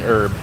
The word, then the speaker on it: herb: the B is silent just like the H is silent and Herb I'm going to let